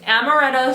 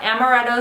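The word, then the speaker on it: Amaretto: it's amoretta swirl but I always want to say arto I don't know where the heck that came from but I know I've said it wrong in my other videos like a ding-dong but amoretto swirl it's a little bit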